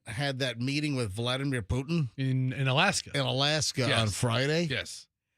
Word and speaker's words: Putin: They actually had it phonetically spelled out, and it's Poo. P-O-O. I mean, that would be right. Poo. Oh, he's Poo, all right. It's not a pew. It's not Putin. P-O-O dash T-I-H-N.